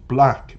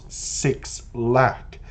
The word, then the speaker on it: 6LACK: Now, he is referred to as the proper pronunciation, Black, by the way, not Six Lack, despite what your brain keeps trying to tell you about the name.